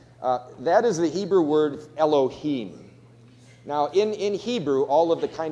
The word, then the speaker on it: Elohim: So that word is actually pronounced Elohim.